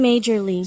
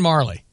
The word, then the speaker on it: Majerle: So I looked it up and got a pronouncer. Dan Majorly. So I said, okay, that must be right because it's online. It's Dan Marley.